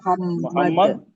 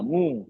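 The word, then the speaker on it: Muhammad: की आवाज निकालनी है ओ की आवाज नहीं निकालनी अब ये तो बहुत कॉमन मिस्टेक है हम कैसे लिखते हैं हम लिखते हैं मोहम्मद एम ओ एच ए एम एम ए ए डी ये स्पेलिंग लिखते नहीं 90% आपको इंडिया पाकिस्तान में स्पेलिंग मिलेगी मिलती नहीं मिलती है ओ लिखा है पढ़ते हैं मोह मु मोहम्मद मोहम्मद मोह मुंह नहीं एक्चुअली ये है एम यू एच ए जी हां मुंह हां मुंह होठों को गोल्ड करना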